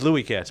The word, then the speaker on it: Louis Katz: Wait, it's pronounced Louis Katz? I thought it was No, I thought he was. It's Louis Katz, but I thought he was doing it like an announcer who didn't know.